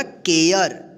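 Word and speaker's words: care: केयर।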